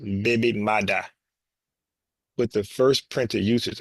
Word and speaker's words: baby mother: The term originated in Jamaican Creole as a baby mother, pronounced baby mada, with the first printed usage appearing in the Kingston newspaper, the Daily Gleaner, in 1966.